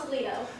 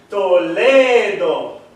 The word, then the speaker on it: Toledo: You see, Castilian Spanish you pronounce different than English.